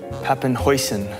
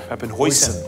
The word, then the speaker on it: Papenhuyzen: dutch dutch yeah so what's the dutch um pronunciation of puppenhauser papin hoison open hoisin like the sauce yeah the sauce always what